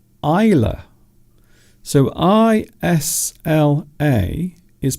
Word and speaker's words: Isla: So I-S-L-A is pronounced Isla.